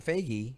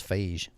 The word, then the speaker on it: Feige: Like well, he they has, need a Kevin Feige, and if it's Jeff Johns, he's got the chops for it.